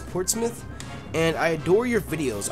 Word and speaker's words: Portsmouth: Portsmouth ports it's see they pronounce it differently in the UK and see if you were in in in the United States it looks like it says Portsmouth but it's I think it's Portsmith and I adore your